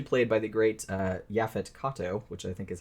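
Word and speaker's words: Yaphet Kotto: who is actually played by the great uh yafet Kato which I think is how you pronounce his name uh who will always be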